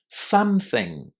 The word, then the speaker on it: something: Because of the pronunciation of the letter O in the first syllable. Listen and check if that's the way you say it. Something. Something. Can you hear the short a in some at the beginning of this word?